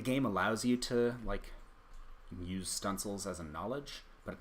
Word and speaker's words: studding sails: There were things called stunsels, spelled like studding sails, which you could put